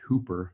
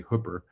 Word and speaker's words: Hooper: And probably a lot of you are noticing that at first glance, you might expect this to be pronounced Hooper, but we say Hooper.